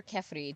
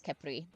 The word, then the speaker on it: Khepri: His name is Khepri. Or Khephri, depending on pronunciation, but I think it's Khepri.